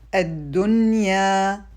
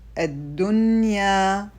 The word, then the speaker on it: الدنيا: The rule on the word dunya is izhar, or to show the noon. We pronounce it الدنيا الدنيا.